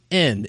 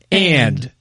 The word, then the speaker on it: and: We don't say end. It's and. If you're teaching kids are getting confused with N, it's because you're not teaching them the You're song not pronunciating right. it. And Z, not NZ.